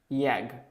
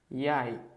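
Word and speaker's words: jeg: It is not yag, it's yay.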